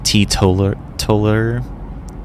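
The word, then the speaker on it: teetotaller: into trouble for this so it's actually pronounced titular Toller the person who doesn't drink but um let's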